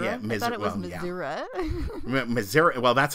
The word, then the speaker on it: Missouri: Missouri? Missouri? Missouri? Yeah, I thought it was Missouri.